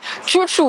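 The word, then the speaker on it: txotx: sur Instagram qui s'appelle tchou-tchou alors ça s'écrit bisous mais on a bien compris que les logos ici ils disaient Chuchu c'est du basque d'ailleurs est-ce que cette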